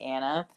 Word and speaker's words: Anna: that's totally fine because my name is phonetically anna but if like people